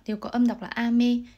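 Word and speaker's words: 飴: có âm đọc là ame. Tuy nhiên với từ mưa sẽ đọc lên cao ở âm A là ame, và từ kẹo sẽ đọc ngang là ame.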